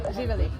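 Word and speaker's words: Živjeli: Živeli.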